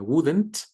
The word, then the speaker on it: wouldn't: En el caso de la forma negativa de would, sería wouldn't. Wouldn't, igual, como que desaparece la L.